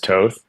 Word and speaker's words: Toth: way, but it's actually it's Toth in European, but I go by Toth just because growing up, it was so easier for Americans to pronounce Toth than Toth. So I just generally went with Toth instead of Toth, but Toth is technically correct.